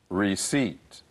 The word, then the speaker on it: receipt: her car for her receipt receipt if you want to return any clothing you'll need your receipt please remember this word the p is silent there's no re receip